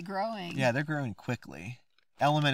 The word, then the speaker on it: LMNT: Element is spelled LMNT, in case you've never heard of it.